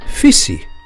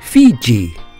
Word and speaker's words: Fiji: land later called Australia called their home Viti but the Tongans with their odd pronunciation called it fissy when Captain Cook asked the Tongans the name of the islands to their West he heard Fiji and so from an englishman's mishearing of a tongan's mispronunciation cook proclaimed these islands as Fiji this Cavalier misnaming of